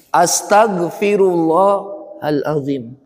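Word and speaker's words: أستغفر الله العظيم: perbanyak istigfar Astagfirullahalazim Astagfirullahalazim jangan Astagfirullah ya Bu Astagfirullah pakai domah Astagfirullahaladzim maknanya berbeda nanti kalau bapak bacanya Astagfirullah itu bukan kita minta ampun kepada Allah justru kita mengampuni Allah Ya Allah aku ampuni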